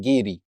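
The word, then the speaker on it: giri: one principle called gidy and it's gidy and you and you spell it g i r i I don't know why they pronounce it gidy now in the Japanese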